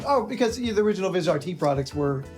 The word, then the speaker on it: Vizrt: So, Viz RT. Yes. Thank you for pronouncing it correctly. Makers. What? We're not calling it new tech still. Uh or Vizer or anything else that we keep hearing?